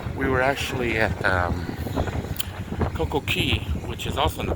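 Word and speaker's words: Coco Cay: at Coco Key because apparently little islands and stuff like in Florida we have the Florida Keys, you know, key.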